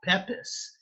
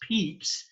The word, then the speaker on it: Pepys: Even though his name looks like Pepys, it is pronounced Pepys.